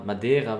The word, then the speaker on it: Madeira: Madeira wird es ausgesprochen.